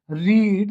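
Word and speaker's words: read: तो लड़का है तो he will have रीड the book. देखिए रीड लिखा सेम जाता है, रीड रेड रेड, pronunciation different हो जाती है, तो वर्ब की थर्ड फॉर्म भी यही होगी, he will have रेड the book.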